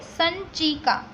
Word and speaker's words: संचिका: लिखेंगे ए file, FILE, जिसका pronunciation ये जो है वो स के ऊपर डॉट है वैसा समझना है, इसलिए प्रोनाउंस करेंगे संचिका, ओके, संचिका।